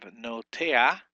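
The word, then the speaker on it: נֹטֵעַ: We have notea, and we have the noon and the holum broken into one syllable, and then the tet, the sere, um, the ayin, and the patak. Notea, notea. So that's the only exception you have where the vowel comes before the consonant at the end.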